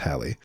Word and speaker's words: Halley: Yes, I think it's Haley, isn't it? Yeah, it looks like it could be pronounced Halley. I I've always heard it Haley.